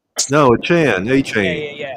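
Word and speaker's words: Achane: Yeah, it's pronounced a chan. Oh, I'm sorry. I didn't realize that. No, that's okay. That's Everyone was saying achain at first and I I there was a news conference press conference where he said all y'all are mispronouncing my name. It's announced a chan.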